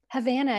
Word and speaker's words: Havana: right i just was havana havana havana yeah just like the city in kyouba love it which we